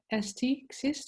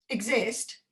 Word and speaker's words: xyst: It's Xyst or something. Exist? No, not exist. Xyst.